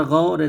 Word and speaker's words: غور: واو لین لکھا ہے۔ واو لین وہ واو ہے جو ساکن ہو اور اس سے پہلے زبر ہو، جیسے واو غور کی، پہلے اس کو ہجے اور پھر رما پڑھتے ہیں۔ غین و زبر غو، رے ساکن غور۔ بچے اس کو غین و زبر غو پڑھ جاتے ہیں، ایسا نہیں، اردو کے انداز میں